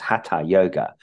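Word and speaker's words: Hatha yoga: what they call ha yoga it's really it's pronounced ha yoga and that's uh postures and breathing exercises and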